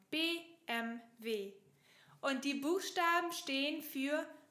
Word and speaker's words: BMW: Und das hier, das ist nicht BMW, auf Deutsch sagt man BMW, wie die deutschen Buchstaben, BMW.